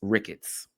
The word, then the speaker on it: Ricketts: I'm sorry, I keep I just been reading maybe I said his name wrong in the past, but it's Ricketts. thus uh suppressing his growth, brand opportunities, and tarnishing his reputation.